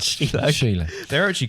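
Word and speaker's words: Síle: S-I-L-E. Soul. Yeah. All silly. Silly. Pronounced. Cecil. No. Sheila. Sheila. Right.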